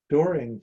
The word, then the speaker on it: dooring: Dooring for a living does, pronounced whoring.